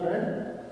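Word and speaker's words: read: वो हम लगाएंगे पढ़ना रेड। ये स्पेलिंग के लिहाज से रेड तीनों फॉर्म एक जैसे होते हैं, लेकिन पढ़ने के लिहाज से फर्स्ट फॉर्म के अंदर रीड पढ़ा जाता है और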